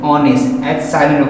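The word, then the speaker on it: honest: ऑनेस्ट मैन, इसका हम ऑनेस्ट मैन नहीं बोलते, क्या बोलते हैं? ऑनेस्ट, एच साइलेंट होगा, ऑनेस्ट, सो साउंड आ रहा है अ का, सो एन ऑनेस्ट man, okay, alright.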